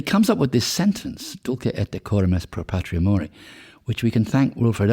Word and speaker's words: Dulce et decorum est pro patria mori: Yeah, I mean, as I said earlier, it's Dulce et decorum est pro patria mori, with a short with a slight Yorkshire accent.